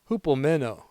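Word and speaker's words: ὑπομένω: So we're going to Greek out on the word endured, pronounced hupomeno, meaning to remain under, to stay instead of fleeing, to persevere beneath pressure.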